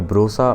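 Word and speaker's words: Broca: Then you have Paul ब्रोका या ब्रोसा, वो however you want to pronounce it, I pronounce it ब्रोका।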